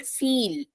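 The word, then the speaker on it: viel: I so fry and i e will become e so if you see this word this is called feel yeah I E is becoming e feel then if a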